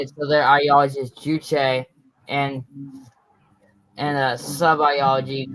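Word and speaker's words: 주체: So, and Kim Il-sung basically made his own ideology called Juche. Juche? Yeah, the first syllable, Jew, means man. Okay. And the second syllable, Che, means like your body.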